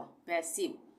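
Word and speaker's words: passive: उसी तरह से पैसिव में भी आई के बाद वी छोड़ के ई आ रहा है, पर यहाँ पे इसका उच्चारण आई का ई हो जाएगा, आई नहीं होगा, पैसिव।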